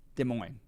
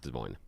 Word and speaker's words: Des Moines: Des Moines. You don't pronounce the S. No, you don't do the S. No, just Des Moines.